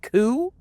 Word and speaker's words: Kuu: by the name of Majin cou not exactly the most clever name in the world but hey as long as it rhymes with Buu I guess that's the